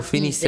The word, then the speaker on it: finissez: Final Vous finissez. EZ. Finissez. Finissez. Pronounced E.